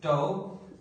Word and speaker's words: tau: So here I write, this is the symbol of the torque, which we pronounce as tau, and this will be force into r sin theta.